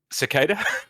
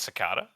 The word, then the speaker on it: cicada: depending on your pronunciation definitely cicada yeah I don't think anyone calls it I call it sakata oh yeah SAS is